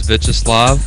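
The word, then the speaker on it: Wiesław: your actual name well the proper way to pronounce my uh name is veslav veslav yeah everybody including my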